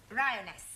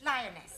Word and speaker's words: lioness: following lion roness lioness roness no l l r r you're not saying it right Fair sorry I know try saying Ryan lioness good well in future every time you see an AR pretend it's an AR right Anna yeah feminine